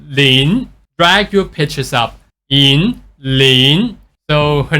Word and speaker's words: Yinlin: the game so again the mistake that is done by the spelling it looks like Yin Lin but we actually pronounce the first word Yin as in but with more stress so it going to